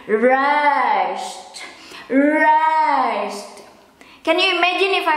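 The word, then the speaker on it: rijst: The rice itself, if I pronounce it for daily conversation, I just pronounce it as rice, rice, rice, rice. But the quotes perfect should be rest.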